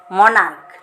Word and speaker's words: monarch: Character, chaos, stomach, monarch.